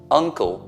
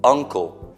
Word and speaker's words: uncle: Uncle, zio, is U inglese O, uncle, non uncle, perché uncle è la caviglia.